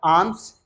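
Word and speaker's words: alms: करो सॉरी ट इ कॉल्ड आम्स ल become silent give the आर्म्स आई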